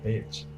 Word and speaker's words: beach: E não beach. Beach. Se você pronunciar beach, vai ser um pouco pejorativo.